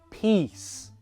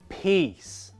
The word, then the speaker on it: peace: Long E for peace. Short I sound for piss. Practice it with me. Peace.